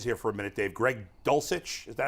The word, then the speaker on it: Greg Dulcich: to tight ends here for a minute Dave Greg dulcich is that how you say his name yes